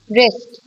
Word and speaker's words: wrist: Wrist, wrist watch, आपकी जो कलाई है, that is called wrist. Wrist में W is silent again.